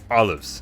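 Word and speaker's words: AuLives: OneCoin, OneLife, and AU Lives, which is apparently pronounced as olives.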